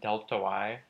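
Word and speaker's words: Δy: There's a triangle y. It's pronounced delta y over delta x.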